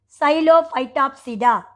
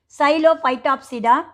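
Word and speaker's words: Psilophytopsida: The pronunciation of the 5 subdivisions are Xylophytopsida, P is silent, okay. Xylophytopsida, Xylotopsida, Lycopsida, Sphenopsida, and Pteropsida.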